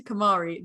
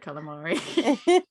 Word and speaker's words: Kamari: And we were like, it's not called calamari. And the guy was like, no. First you go to Kamari, then you have calamari. And he was like, what, did I not say it right? And we were like, you literally said calamari.